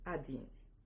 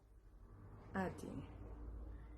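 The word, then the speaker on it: один: El uno se escribe el uno se escribe así, pero se pronuncia adin. Se pronuncia adin.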